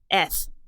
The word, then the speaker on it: eth: So the first letter I'm going to talk about is eth. And it sounds like you're saying S, but with a lisp.